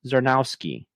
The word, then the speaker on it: Czarnowski: So I chose to take this time to recognize Chicago's very own Robots with Coffee's Paul Czarnowski. Did I pronounce that correctly?